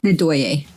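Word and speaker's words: Ndoye: When the Earth Captain, Nadoya, right? Or Nadoy. How do you say Did it? she come in that section? Nadoye.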